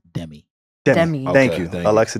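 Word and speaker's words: Demie: Hees always Alexa uh the correct pronunciation of Alexa's last name is Demi Dem Dem thank you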